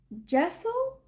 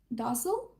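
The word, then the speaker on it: deosil: pronounced it as um Dazzle. But she has the pronunciation J E. So it's spelled D E O S I L. But it's pronounced like J E H S H E L.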